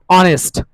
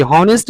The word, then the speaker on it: honest: ऑनेस्ट, HONEST, हॉनेस्ट नहीं पढ़ेंगे dear students, ऑनेस्ट पढ़ेंगे, ऑनेस्ट, ऑनेस्ट मिस ईमानदार, H साइलेंट होता है।